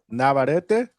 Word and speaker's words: Navarrete: But but it's Navarrete, right? What is How you say What is it? Say it, Johnny. Navarrete. There you go. It's a There's an e there, guys.